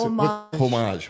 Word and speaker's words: homage: What's homage? I like to say homage, and the H is silent.